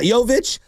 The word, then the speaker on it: Jovic: Am I even pronouncing that right? Jovic. Yeah, Jovic.